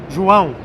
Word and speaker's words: João: So it's a downward motion. So, it's bow. Pão. João. Because you were saying João. João. Right, because in Spanish, usually the syllables are like up.